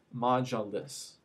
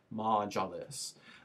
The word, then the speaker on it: Majlis: the first legislative body, which is pronounced Majlis, right? And it looks a little bit, so if you were going to spell that out, it's going to be pronounced M-A-H-J-L-I-S, Majlis.